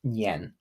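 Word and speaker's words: 年: the story of the nien now nien is also the Mandarin word for New Year n-i-a-n in pinyan that's how you spell that and it's pronounced yen and Yen was a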